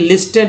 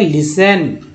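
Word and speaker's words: listen: यहाँ देखिए लिस्टन पढ़ते हैं तो देखिए टी के जस्ट पहले एस अगर आ गया तो टी साइलेंट हो गया, पढ़ेंगे लिसन, और ई भी है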